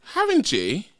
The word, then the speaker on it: Haringey: Haringey.